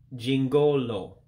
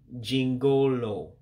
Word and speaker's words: jingụlụ: For instance, the I character in English, that would be an actual E sound. And the U characters with the dot underneath it gives it a different pronunciation. We call those diacritics. So that U makes an O sound. So that's why you hear me saying jingụlụ. Three syllables, jingụlụ for jingle.